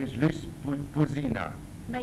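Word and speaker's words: Puzyna: My name is Luce Puzina. My name is Luce Puzina, yes. Spell it.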